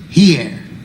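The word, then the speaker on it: hier: How do you pronounce that? Here.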